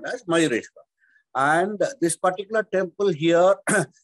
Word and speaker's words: Mayureshwar: Mayureshwar. People also call him Moreshwar. Okay. Because the original name was Mayureshwar.